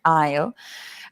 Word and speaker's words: aisle: it sounds like I will aleo the same pronunciation aisle um and the aisle is the the the